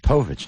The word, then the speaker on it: Povich: it's black party Thursday you prefer Povich or pvic pich Povich not pich so rhymes with mopic mopic some people call